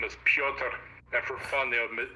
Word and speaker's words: Piotr: friends, I told them that my name is Piotr, and for fun, they would deliberately mispronounce it as Piotr. Piotr. Yeah. Yep, because it's Pyotr if you try to spell it like the Russian way, and they would say Piotr for giggles.